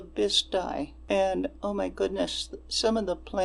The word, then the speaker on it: Bisti: And there's a lot of local pronunciation around here that this poor narrator, Maria, she read the Bisti, but locally we say the Bisti.